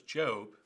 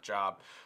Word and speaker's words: Job: sort of stuff and we pronounce it correctly it's job and not job um why don't you